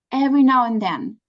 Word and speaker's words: every now and then: there's something specific okay every now and then every now and then every now and again like one sound is disappearing like and but no D in the end yeah yeah yeah that's